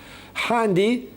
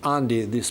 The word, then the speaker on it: handi: Handi in Basque language will be big. You can pronounce it handi, you can pronounce it andi, in the Spanish way. The Basque in France do pronounce the starting H.